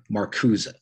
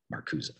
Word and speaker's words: Marcuse: I've heard that name pronounced many, many different ways, but the way it was always explained to me or said to me was Marcuse. Some people call him Marcus, some people call him Marcuse. As far as I know, the correct pronunciation is Marcuse, who is, of course,